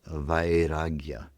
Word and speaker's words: vairagya: In the yoga sutras is a word that Patanjali uses frequently and the word is vagya.